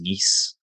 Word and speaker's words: Nice: Um with I I'll probably butcher this, but I believe it was Nice. I think that's how you say it.